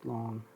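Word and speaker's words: Lang: it's spelled l a and g but it's pronounced long um last season i got a really good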